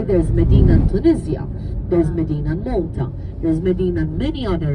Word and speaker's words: Malta: That's the English pronunciation to the name of the country. So, as Maltese, we do not call our island Malta. It's Malta.